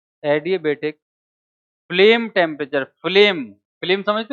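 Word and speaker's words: adiabatic: एडिया बेटिक flame temperature एडि but spelling आती है ए डी आई ए B eighty एडि बेटिक फ्लेम टेंपरेचर दोबारा बोल एडि बेटिक फ्लेम टेंपरेचर फ्लेम फ्लेम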